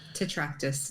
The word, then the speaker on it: Tetractys: Tetractys.